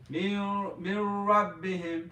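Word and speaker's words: min rabbihim: Mir Rabbihim. Say that again. Mir Rabbihim. Mir Rabbi him. We skip the noon and we go to the R. So noon is silent.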